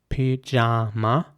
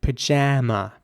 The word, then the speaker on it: pyjama: The British way would be pajama with an R sound for both A's. Pyjama. And in American English, it would be more like pajama with an A sound in the middle. Pajama.